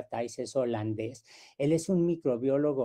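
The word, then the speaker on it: Thijs: diapositiva a thais efema se pronuncia taiza el nombre suena como tics pero se pronuncia tyces holandés él es un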